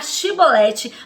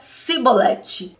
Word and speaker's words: Shibolete: E aí o efraimita tinha toda uma dicção diferente, tinha um sotaque diferente, falava diferente, não tinha o costume de pronunciar o SH, não conseguia falar Shibolete, mas dizia Sibolete.